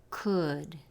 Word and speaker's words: could: Se escribe con una letra L, pero la letra es muda. no se pronuncia L, se pronuncia could, could, could.